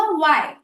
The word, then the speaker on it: why: फिर हुआ वाई, WHY। इसमें भी हम व बोल रहे हैं, ह नहीं। और एक और एग्जाम्पल है टफ।